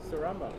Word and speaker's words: Staramba: How is that pronounced? Saramba.